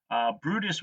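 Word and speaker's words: Bryde's: So that includes blue whales, fin whales, Brutus whales, which it's pronounced bride. It's written brides whales, it's pronounced Brutus whales, and humpback whales.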